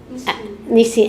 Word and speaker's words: Nissin: Nissin, Nissin.